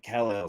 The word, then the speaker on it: KAL-EL: KAL-EL.